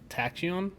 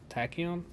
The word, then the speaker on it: tachyon: t-a-c-h-i-o-n-s that's what the uh substance is from tachyon tachyon i know how to pronounce it it's in the show as well